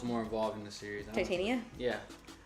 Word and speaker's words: Titania: And also, I wish Tatiana was more involved in the series. Titania?